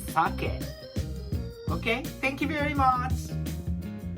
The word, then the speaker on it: sake: And also, this is not sake. But this is sake.